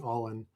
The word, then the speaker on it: AALN: Well, I just I want to underscore the AALN that Erica mentioned, which we're now pronouncing all in.